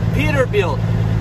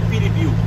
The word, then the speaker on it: Peterbilt: É Peterbilt. Ok, galera? Olha a pronúncia. Peterbilt. Peterbilt. Ou falar português mesmo, Peterbilt, mais bonito do que falar Piribiu.